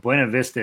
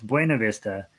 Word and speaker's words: Buena Vista: don't live in Colorado in Colorado they pronounce Buena Vista Buena Vista and they have this big complicated story about why they pronounce it Buena Vista and it's wrong but they have a reason that they claim that is why you pronounce it Buena Vista so it's I always call it Buena Vista it makes a man